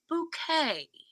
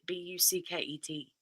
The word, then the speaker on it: Bucket: Mrs Hyacinth Bucket and she's like it's bouquet and it's spelled bucket b-u-c-k-e-t bucket but she says it's not bucket it's bouquet bouquet hey Sheridan Sheridan loves